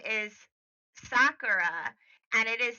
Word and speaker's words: Saqqara: Her name is Sakara Carr.